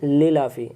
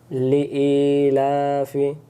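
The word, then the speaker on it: لِإِيلَافِ: আরেকবার, প্রথমে আমরা ভুল করি, বলি লিলাফি, না লিইলাফি কুরাইশ ইলাফিহিম রিহলাতাশ শিতাই, টান দিতে হবে চাইলে, শিতাই, রিহ, রিহ এমন উচ্চারণ হবে গলা থেকে শোষো করে, রিহলাতাশ শিতাই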